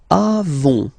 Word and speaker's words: avons: Then nous avons, final s not pronounced. Avons, okay, and then we